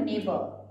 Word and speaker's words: neighbours: GRAMOPHONE gramophone, gramophone, NEIGHNEIGHBOURS, जी silent हो जाएगा, जी को आपको बोलना नहीं है, बोलना है आपको नेबर, नेबर्स, ठीक है।